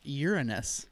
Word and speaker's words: Uranus: The answer is Uranus. No, Uranus. Uranus. It's not how it's pronounced.